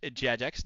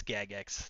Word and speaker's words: Jagex: It's pronounced Jagex, not Jagex. Yeah, it's pronounced Jagex. That's exactly how it's pronounced. Thank you. Thank you for confirming it. It's Gagex.